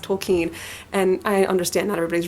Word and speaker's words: Tolkien: of this but he actually says that it's pronounced tokine and I understand that everybody's read those I